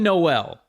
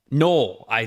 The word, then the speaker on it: Noel: the top 10 obviously Jaylen Noel no I actually is how you say his last name I have learned so